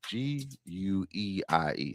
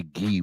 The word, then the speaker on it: Gueye: Muhammad Gueye, I always say this guy's name wrong. It's Gueie. So I want to say Guy, but they say Gueye when he's out there.